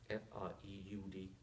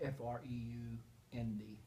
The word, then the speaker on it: Freund: F-R-E-U-N-D. F-R-E-U-D. F-R-E-U-N-D. Yeah, And the the EU is Freund. like an O-Y.